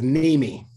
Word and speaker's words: Niemi: each other in your last name it is Mimi okay I would have butchered it so I understand everybody does if